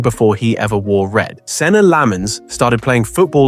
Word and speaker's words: Senne Lammens: How do you pronounce your name? Senne Lammens. Senne Lammens.